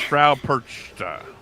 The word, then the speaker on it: Frau Perchta: How do you pronounce Frau Perchta?